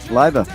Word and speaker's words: Liva: show uh here from livea how are you did I pronounce it right anyway yes Pierre you you got it Pierre Carlo it's my